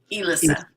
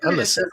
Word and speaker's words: Elissa: So it's really Elissa. Elissa, but everybody calls you Alyssa. Alyssa. Mm-hmm. That makes sense. It's spelled with an E.